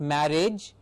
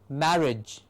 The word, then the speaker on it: marriage: i g edge coverage not marriage but marriage mar and age okay cover coverage marry